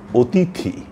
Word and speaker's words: অতিথি: আমরা বলব অতিথি কখনোই আমরা অতিথি বলবো না। অতিথি এভাবে আমরা উচ্চারণ করব।